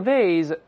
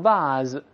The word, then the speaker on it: vase: 但是这个 vase 也能把它读成 vase。或者 vase，当然并不是 vase 了，